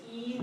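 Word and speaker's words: 一: The pronunciation is E, so the first tone.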